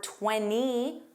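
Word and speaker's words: twenty: 20 with the T or 20 without the T is another NT word.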